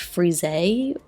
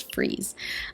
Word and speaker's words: frieze: I used to think it was pronounced frise, but I think it's frieze.